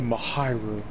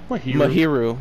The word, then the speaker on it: Mahiru: it's pronounced mahiru all mahiru it's the mahiru there's no e in there so it's not high it's here mahiru if there was an e in there then it'd be mahyu sorry I took grammar